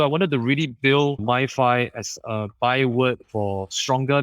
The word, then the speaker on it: MyFi: I eventually settled on MyFi, which rhymes with Wi-Fi for a reason, because